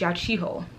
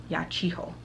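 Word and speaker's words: Yachiho: much um mystery i i have been pronouncing her name wrong in the first book i'm sorry in my last video my manga haul sorry her name is ya chiho ya chiho yes her name is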